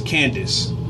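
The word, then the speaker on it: Kandake: queen of cush was Kondik and it's really pronounced as Candice but the way is spelled is kan dak he and she was the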